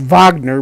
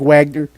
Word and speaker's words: Wagner: It's Good actually it's pronounced Wagner, but Is it Wagner? it's spelled like Wagner.